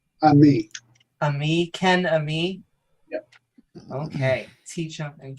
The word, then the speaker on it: Ammi: um is it how is your last name pronounced I'm me a me Ken Ami yep okay teach him and Ken and me